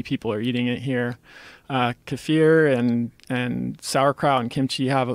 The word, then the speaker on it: kefir: Kefir and sauerkraut and kimchi have K2 in it. Is that how you say it? Kefir?